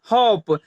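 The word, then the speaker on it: hope: लेकिन एच ओ पी इसके साथ ई जुड़ जाता है तब इसका प्रोनाउंसिएशन कैसे चेंज हो जाता है वो देखिए। एच ओ पी ई, इसे हम लोग क्या पढ़ेंगे? होप, इसे हम लोग होप पढ़ेंगे।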